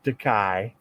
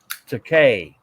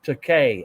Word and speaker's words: Takei: Shatner always called him Takai, okay, and then but his real name is pronounced Takei, as in, and it's his way he would tell him. It's a Bill. It's pronounced Takei, as in toupee.